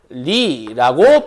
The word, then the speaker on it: 윤리: 자, 윤리라고 했을 때 얘 율리라고 발음한다는 거.